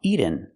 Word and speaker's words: eaten: has eaten my dinner the word is not pronounced eaten we cannot make a fast te here we have to make a real tea eaten my dog has eaten my dinner or I can make a stop tea eat and then go directly to the end sound like this eat eaten my dog